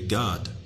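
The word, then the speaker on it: גד: a good fortune and the pronunciation is literally God g-a-w-d God so knowing the actual war that was actually there when looking at Isaiah 65 and 11.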